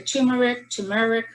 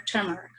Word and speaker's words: turmeric: I pronounce it the way it's spelled, and then people look at me funny and ask, "You mean turmeric?" So it's either turmeric, or turmeric.